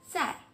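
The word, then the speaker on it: 在: I, ça ressemble un peu le début de aïe en français. Aïe, aïe. Un exemple. Zai, zai.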